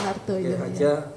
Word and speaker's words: Wardaya: Nyonya S. Wardaya. Nggih, Wardoyo. Bacanya Wardoyo.